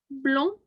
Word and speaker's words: blanc: Blanc, Okay, so it almost sounds like it's got a G on the end of that, yeah, because we're not pronouncing the D, but we are pronouncing it like a blanc, right?